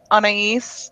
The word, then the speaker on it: Anais: So 2 days ago, I was sitting here, completely down in the dumps, and I saw a post by Anais. That's how you pronounce it, right?